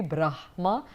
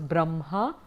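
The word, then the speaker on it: ब्रह्म: that as a pronunciation so if you have bruja ma ba ba ma I would believe that the pronunciation should be bra ma and that's what I do but like I said the traditional schools would tend to pronounce Brahm ha but and that is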